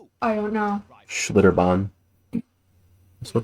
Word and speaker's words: Schlitterbahn: Schlitterbahn.